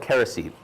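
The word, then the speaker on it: kerisik: the coconut meat and it's called kerosene it's spelled k-e-r-i-s-i-k and uh it's used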